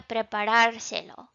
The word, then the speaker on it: preparárselo: And since we changed the number of syllables on this word, we're going to count back 3 and put an accent mark so that our stress still falls on the correct syllable.